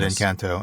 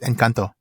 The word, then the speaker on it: Encanto: So my daughter corrected my pronunciation of it. Oh my! I called it Encanto, and she said, "No, Daddy, it's Encanto."